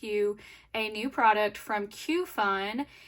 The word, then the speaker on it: Qfun: a new product from Q Fun. It is spelled exactly how it sounds. It's Q fun.